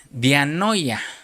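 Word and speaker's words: διάνοια: que que se pronuncia dianoya.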